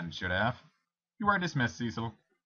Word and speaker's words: Cecil: have you are dismissed Cecil or cesil I know the proper pronunciation is cesil and I'm going to try to say it as often as I can but Cecil is going to slip out a lot it doesn't even